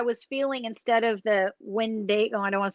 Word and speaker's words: Wendigo: So it says it was pronounced by a Choctaw elder in Philadelphia, Mississippi. He said you pronounce it Wendigo.